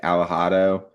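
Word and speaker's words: Alejado: Uh I think it's like Aado. It's Al E J A D O.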